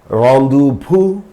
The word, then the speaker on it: rendezvous: They are rendezvous. Already I told you about this word, and laissez-faire. So these two French words, in these two French words, Z is silent.